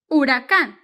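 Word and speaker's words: huracán: with h Huh but the H is silent in Spanish so it doesn't have a sound so it starts with you urakan because this is silent doesn't talk doesn't gossip nothing silent U Haka H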